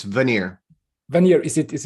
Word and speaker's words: Vannier: should spell your name what is the right pronunciation of your second name it's veneer when you're is it is it is it